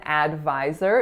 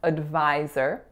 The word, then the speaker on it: advisor: stuff so an advisor there are three syllables the first one is a schwa so it's not an advisor it's an advisor the middle syllable is our winner VY and then our final syllable is an an herb advisor next up is the